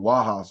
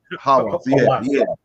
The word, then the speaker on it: Hawass: It's underwater, and then you have I might be saying his name wrong, Wahas, whoever, you know, the guy Hawass. Hawass, yeah, and he just went through his little